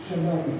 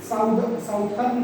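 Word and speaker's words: Southern: सदर्न। क्या नाम देने वाले हैं? सदर्न hemisphere. साउथर्न पढ़ते हैं, ये साउथर्न नहीं होता है बेटा, ये सदर्न होता है।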